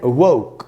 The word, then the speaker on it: woke: तो दोस्तों इसका सेकंड फॉर्म होता है वोक और इसका प्रोनाउंसिएशन है वोक। वोक नहीं होगा, जैसे होम नहीं हुआ था होम, वैसे ही ये होगा वोक।